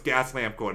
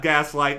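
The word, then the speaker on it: Gaslamp Quarter: By the way, San Diego people, I know it's gas lamp corn, not gaslight.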